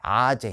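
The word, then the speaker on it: -ase: 레이스를 영어로 쓰면 이렇게 쓰거든요. 이렇게 써요. 레이스라고 쓰는데 이걸 이제 독일식으로 발음하면 라제, 아제 이렇게 불러요.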